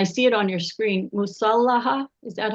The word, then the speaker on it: Musallaha: Musallaha, is that how you say it?